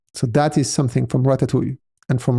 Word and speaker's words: Ratatui: So that is something from Ratatoui and from Ratatoui I pronounce it the French way I guess we have some things